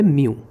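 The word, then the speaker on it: μ: इसको कहते हैं refractive index of a medium और इसका सिंबल होता है ये, जिसका प्रोनाउंसिएशन होता है म्यू।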